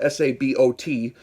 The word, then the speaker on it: sabot: projectile uh a sabo spelled s-a-b-o-t is pronounced sabo really and it's a